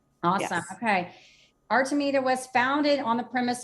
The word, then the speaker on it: Artemida: And And the name of your company, pronounce that for me real quick, too, so we know how. Artameita.